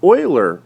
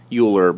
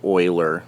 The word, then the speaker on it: Euler: hamiltonian path now a Oiler path and I know it looks like uler but it actually is pronounced Oiler like o i l e r uh an Oiler path